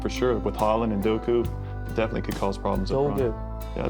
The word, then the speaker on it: Doku: So uh it's a big opportunity for them and I wouldn't count him out for sure with Holland and Doku. Definitely could cause problems. Yeah, Douku, right?